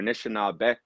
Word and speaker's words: Anishinaabek: And the Anishinaabe, or Anishinaabek, that's how we say plural, we had a K sound at the end.